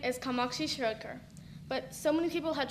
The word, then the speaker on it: Kamakshi Shirodkar: My full name is Kamakshi Shirodkar, but so many people had trouble pronouncing it, I had to shorten it to Kamu.